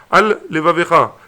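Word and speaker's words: עַל לְבָבְךָ: Kegon il a dit al levavecha, il faut bien prononcer le lamed.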